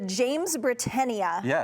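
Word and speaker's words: Jamesbrittenia: one is just full of blooms um let's pronounce it correctly the James brenia Safari dusk James brenia was another kind of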